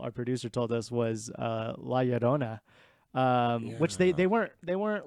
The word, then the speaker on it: La Llorona: It's kind of like a D La Llorona. almost. Yeah. Yeah, just Ditch pretend witch. if you wanna roll your R's, just pretend it's a D.